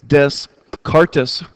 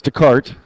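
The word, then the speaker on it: Descartes: It's descartis and I know that's not the right way to pronounce it. It's Dart.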